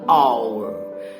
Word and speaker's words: hour: Jadi kalau 1 jam, tulisan dan bunyi yang benar adalah an hour. Dia pakai aturan vokal. An honor, sebuah kehormatan buat saya. An honesty, sebuah kejujuran. Meskipun hahaha, tetapi pada saat pengucapannya kedengarannya adalah vokal.